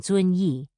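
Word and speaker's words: Zunyi: of the mouth, and Z, as in Zun Yi, is like the DS in ads.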